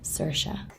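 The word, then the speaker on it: Saoirse: right all right sersa sersa sersa Sasha sersa sersa that's how you pronounce her name it's crazy and then the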